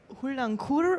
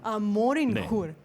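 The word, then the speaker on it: Morin khuur: In Mongolia, they say hulangkur or something. I probably said it wrong, but Okay. Yeah. Morinhul. morinkur. Perfect. Moringhun.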